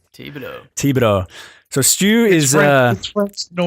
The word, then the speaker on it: Thibodeau: Did I say it right, Stew? It's Thibodeau, but that's okay. Thibodeau.